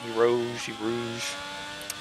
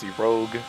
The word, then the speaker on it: Rouge: And let's see how he tackles Rouge. Or as I like to call it sometimes, the Rogue, because I didn't know how to pronounce it correctly back then.